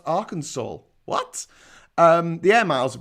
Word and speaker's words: Arkansas: And Arkansas, which is pronounced Arkansas.